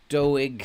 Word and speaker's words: Doig: put us in front doig has done it do as I'm told you're supposed to pronounce it do now it's time to